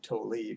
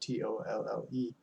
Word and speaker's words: Tolle: I believe I'm pronouncing his last name right. I think I've heard some people say Tolle, but Tolle.